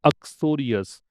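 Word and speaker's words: uxorious: अक्सोरियस, क्या प्रोनाउंसिएशन है? अक्सोरियस, इसका मतलब होता है पत्नी भक्त, पत्नी से बहुत प्रेम करने वाला।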